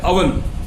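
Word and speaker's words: oven: लेकिन जो घर में हम उपकरण यूज करते हैं वो होता है अवन, और जो प्याज हम खाते हैं वो होती है अनियन, नॉट ओनियन, नॉट ओवन, इट्स अनियन एंड अवन, mind it.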